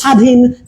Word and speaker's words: স্বাধীন: এই বটাই মূল ব, কিন্তু এই বটা আমাদের বিভিন্ন ব ফলা হিসেবে ব্যবহার হয় এবং এটা উচ্চারণ হয় না। যেমন স্বাধীন, সাদ, এই শব্দগুলোতে দেখবেন শুরুতে ব ফলা আছে।